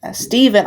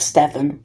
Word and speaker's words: Stephen: helps step helps Stephan Steven I keep his name is spelled s t e p he n sounds like Ste it looks like Stephan but it's Steven stepen was saying bad